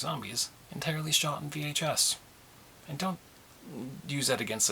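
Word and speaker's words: Viy: that's the first one was called V it's pronounced V but it's spelled v iy it's a heart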